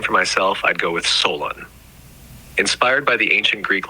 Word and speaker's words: Solon: Did you say Solon? No, I said Solon. It's the name I chose. Can you spell it for me? Sure, it's spelled S-O-L-O-N.